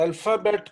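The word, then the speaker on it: alphabet: अल्फाबेट को कहते हैं जी अल्फाबे।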